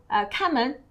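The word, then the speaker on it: 看门: 那看呢 is also a 多音字 in another pronunciation is 看 the first tone.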